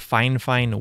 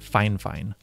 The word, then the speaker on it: Fifine: fine fine sc3 and I know it might sound like I'm saying the word fine fine weird but they have actually reached out to me before and told me that they actually pronounce their company name like that fine fine so anyways these